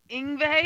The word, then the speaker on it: Yngwie: No, we have tickets for Lewis Black, Yngwie Malmsteen. Oh, you ruined it. 2 days in a row. You had it nailed it. Yngwie?